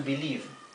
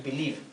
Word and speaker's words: believe: ejemplo el verbo To believe que significa creer to believe Sí esta e del verbo To believe es muda no se pronuncia entonces en el gerundio